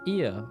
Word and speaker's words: Ia: When the vibration of vocal folds was still required to convey our thoughts and attention, IA, I believe, was the pronunciation used when referring to our people.